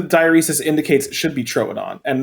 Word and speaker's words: Troodon: I think the diuresis indicates it should be trodon and not Tron really because it indicates the start of a syllable when there isn't a consonant separating two